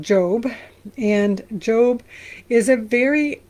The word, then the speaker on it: Job: Um, spelled Job, Jo O B, but it's pronounced Job.